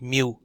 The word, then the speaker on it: mu: the symbol for the mean there is called mu it's a great job right little tail on the front of the uterus pronounced mu and the formula here is e plus this